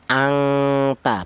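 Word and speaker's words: أَنْتَ: Cara bacanya anta ya. Anta. Bunyi vokalnya NN ya, Nobel ya, bukan ng.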